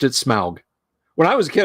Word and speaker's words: Smaug: But okay, Tolkien pronounced it Smaug. When I was a kid, I was like, Smog.